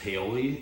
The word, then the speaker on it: Paoli: Lovecraft story, the screenplay, Dennis Paoli, is that how you say his name?